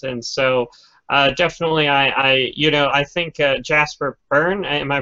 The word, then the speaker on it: Jasper Byrne: 2D horror games, and so definitely I think Jasper Byrne, am I pronouncing it right?